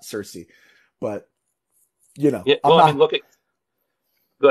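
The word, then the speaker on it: Circe: uh Odyssey fame um in ancient Greek would probably have been uh kierke not Cersei but you know yeah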